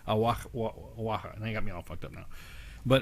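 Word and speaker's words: Oaxaca: when you spell AA, there's that X in there in Aaka. Aaka. It's spelled O A C A. Awaka.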